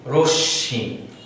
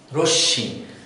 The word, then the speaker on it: রশ্মি: এরকম আরো শব্দ আছে, রশ্মি আমরা যদি লিখি র এবং স্বয়ের সাথে যদি মফলা দিই তাহলে এই ম যদি আমরা উচ্চারণ না করি তাহলে উচ্চারণটি হবে রশ্মি। রশ্মি, কারণ আমাদের মফলার উচ্চারণটি হচ্ছে না।